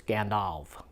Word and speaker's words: Gandalf: name or I get if a name ends in an F it's pronounced with a V sound so it's Gandalf not Gandalf it's not